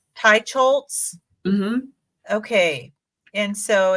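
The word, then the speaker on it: Teicholz: a healthy diet by Nina how do you pronounce her name Tai chz Tai chols okay and so it's this one it looks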